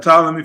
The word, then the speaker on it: Ptolemy: ptolemy philadelphus that's right you said it right ptolemy philadelphia and his father and who dedicated the